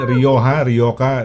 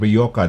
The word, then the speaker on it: Rioja: Yung wine, Rioja, diba? The British would call it Rioja. They have a different, they pronounce it parang C yung J eh.